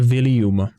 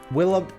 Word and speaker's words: Willump: Já myslím, že se to určitě nevyslovuje William. To jsem říkal. That's the most huggable character. To jsem aspoň slyšel, že řekl, a to je jedno. I have 2 Willump plushies.